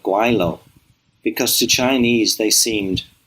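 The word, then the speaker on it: 鬼佬: in hong kong and that is pronounced guilo which simply means ghost fellow or devil fellow most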